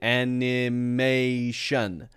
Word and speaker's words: animation: I or n an animation now that's not wrong but if we say this really naturally this I comes the schah sound and so instead of